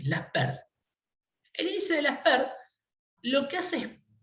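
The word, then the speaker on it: Laspeyres: Que son el índice, el que se escribe Las Peires, que se llama el índice de Laspers, ¿sí? Se pronuncia así, Laspers.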